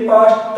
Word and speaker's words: passed: जब मैं इसको पास्ट पढ़ूं तो आप ये ना सोचें कि सर ने पास्ट बोला है PAST, पास्ट ना, ईडी लगाएंगे पास्ट के तो ये भी पास्ट ही बोलता है, ड नहीं बोलता है।